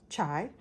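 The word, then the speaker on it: çay: um Turkish tea or chai um it's just spelled differently uh Ciy with a I can't remember what that's called This is pronounced chai believe it or not um I can't remember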